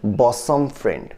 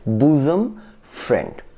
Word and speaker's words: bosom friend: এই ওয়ার্ডটির স্পেলিং দেখে মনে হতে পারে যে এর সঠিক উচ্চারণ হচ্ছে বসম ফ্রেন্ড, কিন্তু এর উচ্চারণ বসম ফ্রেন্ড নয়, এর সঠিক উচ্চারণ হচ্ছে বুজম ফ্রেন্ড।